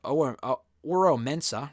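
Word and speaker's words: Oro Mensah: I think Oro Mensa, rather, that's how you pronounce his name.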